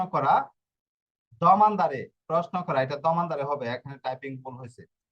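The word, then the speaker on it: domandare: যাওয়া তর্নারে ফিরে আসা তর্নারে হচ্ছে ফিরে আসা দমানদারে প্রশ্ন করা দমানদারে প্রশ্ন করা এটা দমানদারে হবে এখানে টাইপিং ভুল হইছে বাংলাটা দোমানদারে লিখছে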